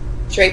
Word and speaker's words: Trappen: excited to meet Deborah treen right did I say it right Tren is exactly it awesome is the owner